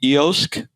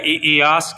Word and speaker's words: eOsk: your website is the EOSC battery swapping network. Did I pronounce that correctly? Yeah, EOSC. Yeah, like kiosk.